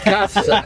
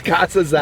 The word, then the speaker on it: Casazza: Casazza. Nah, it's Americanized, Casazza. whatever. I'm just gonna keep leaning into you being Casazza. Like, however you said it real sucks. It's Casazza. It's Casazza.